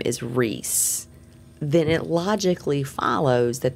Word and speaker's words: Rhys: and when it gets shortened to r h y s I can totally see that being pronounced as Reese and not rice well we know it's pronounced Reese we know it's yes